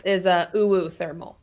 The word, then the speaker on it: uThermal: Yeah, I think the correct pronunciation is uThermal.